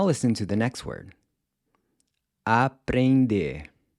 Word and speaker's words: aprender: So the first thing that might jump out at you is the pronunciation of the “E-N”, which sounds almost like it’s got a “g” attached to the end—“eng”.